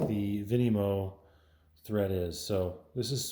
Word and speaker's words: Vinymo: It's almost spelled like Venmo. Vinimo.